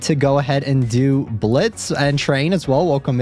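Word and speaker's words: Blitzø: But as you guys can see, I am dressing up today for Halloween as Blitz. The O is silent.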